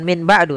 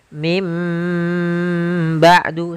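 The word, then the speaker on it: مِن بَعْدِ: Min ketemu dengan ba'du maka kita bacanya dengan bukan Min ba'du tapi mim ba'du sambil ditahan dengan gunahnya yaitu suara nunnya dirubah menjadi suara huruf mim jadi ikqlab itu merubah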